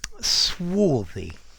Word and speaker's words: swarthy: hi there students swy swy notice the prononciation swy with that a sound okay this talks about